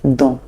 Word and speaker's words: donnent: It's silent, so it's still il, the same way it's pronounced in the singular form, and it's pronounced don.